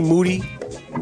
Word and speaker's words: Moody: Moody. Last name rhymes with duty.